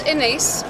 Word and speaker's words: Inés: My name is Inés, rhymes with face.